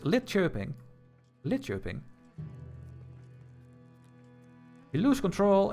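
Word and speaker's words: Linköping: Where is lit coping? So, we have I mean chirping. Sorry, I said it wrong again. It's lit chirping.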